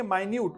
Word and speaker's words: minute: ये मिनट नहीं है, स्पेलिंग वैसे ही है बट इसको पढ़ेंगे माइन्यूट।